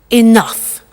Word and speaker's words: enough: Now, this word enough, it's written E-N-O-U-G-H. The pronunciation is enough.